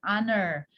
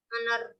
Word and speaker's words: honor: Tadi sudah Miss sampaikan sedikit tuh, it's an honor. Nah, ini kali ini to meet you. Boleh diartikan? Oh, silent-nya yang mana? Honor. Honor. Good.